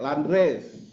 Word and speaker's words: Landrace: Landres bacanya landres.